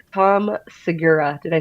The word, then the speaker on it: Segura: Well, maybe he will be lucky enough to get on Netflix like Tom Segura. Did I say that right? Segura.